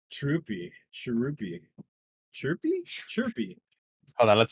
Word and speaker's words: Chhurpi: Chirupy. Chirpy? Chirpy. Hold on. Let's see. I feel like there's an actual pronunciation there somewhere because I Chirpy. saw it too. Chirpy? Shirupi. Chirpy. It's Chhurpi.